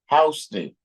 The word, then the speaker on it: Houston: But in New York, in Manhattan, they got a street that's spelled just the same, but it's pronounced Houston.